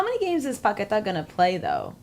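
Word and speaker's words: Paquetá: Lucas Paqueta is probably coming from West Okay, Ham.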